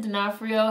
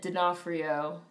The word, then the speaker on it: D'Onofrio: played by Vin Diesel his name is not spelled phonetically at all no it's not it's not spelled phonetically at all Vincent D'Onofrio it really looks like D'Onofrio is Sicilian oh it's Sicilian Oh